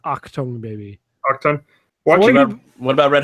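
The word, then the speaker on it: Achtung Baby: Also, it's pronounced Octung Baby.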